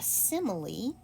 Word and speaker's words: simile: Okay, a simile is the next word. This looks like simile, but it's pronounced sim lee.